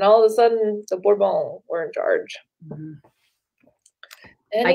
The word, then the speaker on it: Bourbon: His three sons would rule in succession for 30 years before the power shifted to the Bourbons. Did I say it right? Bourbon. Bourbon. Don't pronounce the S's.